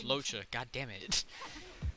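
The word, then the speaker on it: Luocha: I keep calling it Leocha. It's Locha.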